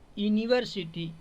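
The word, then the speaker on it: university: तो अला में क्या लगेगा एन लगेगा अंब्रेला यूनिवर्सिटी यूनिवर्सिटी समझ रहे हैं तो यूनिवर्सिटी क्या हो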